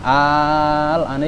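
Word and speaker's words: آلآن: Itu boleh dua, cara bacanya boleh dua. Pertama, itu yang kedua. Bentar, yang pertama dulu. Alana. Lana. Itu yang kedua, alana. Di sini istilahnya apa? Nakal. Maksudnya seharusnya kan al-ana.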